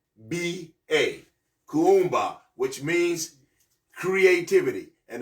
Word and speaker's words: Kuumba: purpose ni Nia and again today's principle is Kumba Kumba is K a u u m ba a Kumba which means creativity and it's talking about all